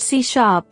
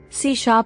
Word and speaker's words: C#: Microsoft C Basics Microsoft C pronounced C is a modern general purpose objectoriented programming language